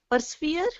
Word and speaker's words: persevere: Persevere. Persevere. Very good. Very good. Persevere. We would say, we'd actually stress the last part, so we'd say persevere.